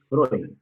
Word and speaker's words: Freud: Se pronuncia Freud. ¿Cómo? Freud, con O.